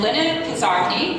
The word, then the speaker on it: Lenna Koszarny: And Lenna Koszarny, did I say it right?